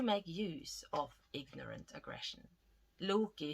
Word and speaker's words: Loki: use of ignorant aggression Loki whose name rhymes with loogie flame and who often